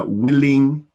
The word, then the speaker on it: willing: No, you're giving it a long E sound.